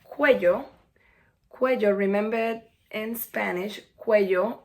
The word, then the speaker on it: cuello: Cuello, remember in Spanish, cuello, the double L is pronounced as a Y, so it's cuello.